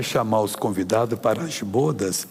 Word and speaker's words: bodas: Essa palavra bodas significa, eh, o pronúncia é bodas mesmo. Há umas pessoas que eu já vi falar bodas, coitados, bodes. São as namoradas dos bodes aqui. É bodas.